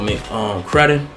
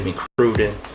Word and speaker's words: McCrudden: Before they were famous, this is Michael McCrudden. I finally got it right. Used to say McCrudden, but it's Bud. You know, it ain't no E, it's double D.